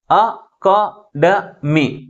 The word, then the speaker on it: academy: If the word begin with a syllable and pronounced as half a, then the primary stress is on the second syllable.